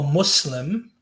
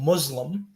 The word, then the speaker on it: Muslim: so like for instance when you say um you know i'm a muslim you're supposed to pronounce it with like an s as opposed to like a zed because that changes the meaning completely sorry if you can't